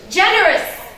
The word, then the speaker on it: generous: On the first syllable. Generous.